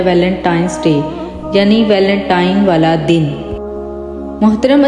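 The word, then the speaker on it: Valentine's Day: अब आप वैलेंटाइन डे के नाम पर गौर करें तो इसे जो आम कहा जाता है वो वैलेंटाइन डे है, लेकिन हकीकत में जो इसका जो प्रोनाउंसिएशन है वो है वैलेंटाइंस डे, यानी वैलेंटाइन वाला दिन।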